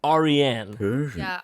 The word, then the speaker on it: Aryan: name got him and it is a persian name it's pronounced aryan you see the indo-aryans